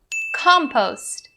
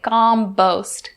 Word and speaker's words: compost: and one for compost for this words pronunciation we're going to look at the sound now if you're not pushing enough air or you make it sound like the sound it's going to sound really weird don't say combost gombost not correct compost compost and the second thing i would like to tell you guys about is the primary stress so the primary stress is upon the first syllable compost compost we don't